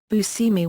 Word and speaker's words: Buscemi: Buscemi pronounces his name as "Bu-semmy", but the Italian pronunciation is "Bu-shehmy".